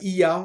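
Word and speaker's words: Oia: Donc tu as I dans le nord, ça s'écrit Oya.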